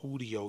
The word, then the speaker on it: Udio: one I use called Udo. U E D I O. Not UE. U D I O. It's spelled like studio without the S and the T.